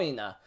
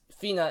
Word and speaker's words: Fina: you pronounce her name I thought was I thought the way how you sent her name and am pronouncing is for Nina but it's fina instead to make it simple